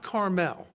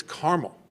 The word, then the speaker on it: Carmel: a treat Carmel Indiana not Carmel if you pronounce it Carmel they're going to think that you're a smarty pants Californian it's caramel and the mayor of